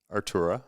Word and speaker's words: Artura: Artura, yeah.